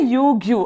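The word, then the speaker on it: Ryugu: यूग्यू, ठीक है ना, क्या है? यूग्यू, आर साइलेंट है वो।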